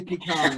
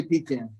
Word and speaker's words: pecan: south you gotta say pecan if you're from the northeast you can say pecan i say pecan i'm from pennsylvania originally